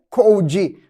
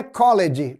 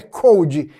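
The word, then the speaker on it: called: Ligar apenas acrescentou ID ficou code não é College pelo amor de Deus Ok não vá pronunciar desse jeito é code parece a palavra frio mas é escrito um pouco diferente ok muito bem então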